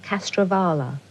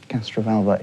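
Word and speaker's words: Castrovalva: What was the master's TARDIS disguised as in Castravala? Castraalva.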